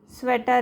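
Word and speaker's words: sweater: या फिर एटर है, स्वेटर है, थेटर है। तो इस टाइप में आपको क्लू ढूंढना है किसी भी वर्ड में, और वो हिसाब से आपको ये वर्ड्स याद रखने हैं, ठीक है। तो ये पूरे वर्ड्स मैं अभी रीड नहीं करती हूँ, ये वर्ड्स आपको समझ में आ गया होगा कि यहाँ पे ई ए का साउंड ए लिया है, ठीक है।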